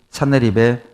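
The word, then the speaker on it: 산헤립: 이 사네립에 의해서. 센나케리브, 영어식 발음으로 센나케리브 사네립입니다.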